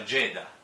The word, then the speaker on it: Jada: magari sbaglio la pronuncia, si scrive Giada, almeno in italiano sarebbe Giada Pinkett, però appunto, come si sente qua nell'audio, si pronuncia Jada, mi pare di aver capito così, Jada.